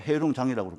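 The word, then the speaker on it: 黑龙江: 이것이 이제 동쪽으로 흐르면서 결국 아무르강에 합류가 되는데 이게 이제 송화강 유역과 그리고 아무르강은 러시아로 보면 아무르강인데 중국으로 보면 흑룡강, 중국식 발음으로 보면 해룡장이라고 부르죠. 그래서 이런 그 강과 그리고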